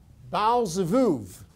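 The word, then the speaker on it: Baal-zebub: about before it says bowel cev now those are written with b's in english but you pronounce it like the letter v as in varus similitude and he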